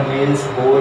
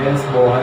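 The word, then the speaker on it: Niels Bohr: या बोहर की परिकल्पना, नील्स बोहर की, क्योंकि अंग्रेजी में ऐसे लिखा जाता है। नील्स बोर। नील्स बोर का मतलब होता है ये साइलेंट रहता है, या नील्स बोहर।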